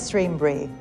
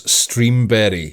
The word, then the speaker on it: Streamberry: So, here at Streambury, we are passionate. Oh, I already hate this woman. Did I hear that right? Did she pronounce Streamberry? Streambury.